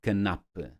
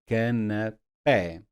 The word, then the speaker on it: canapé: So for example, canapé, I need this accent mark on the E because otherwise I will default to canapé. It's not canapé, it is canapé.